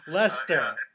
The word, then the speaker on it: Leicester: It's actually pronounced Leicester, and American people always struggle with this word. Leicester.